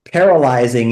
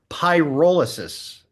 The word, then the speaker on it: pyrolysis: or anything it is the term is p pyrolysis and the idea in wait I'm let me stop there so I'm not saying it correctly pyrolysis yeah like imagine a pie that's like rolling down a hill um py so let